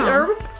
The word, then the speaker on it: herb: Herby herb? I could taste. Tell us in the comments if a pepper is an herb. Herby. Herb? Herb? Herb. I'm pretty sure the H is silent.